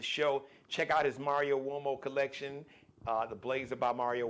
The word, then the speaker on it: Uomo: Uomo is an Italian name, so it's U like umbrella, O, M like Mary, O, but it's pronounced Uomo, Mario Uomo.